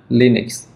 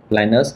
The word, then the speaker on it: Linux: Đấy, phải đọc là Linux chứ không phải là Linux hay là Linux gì đó.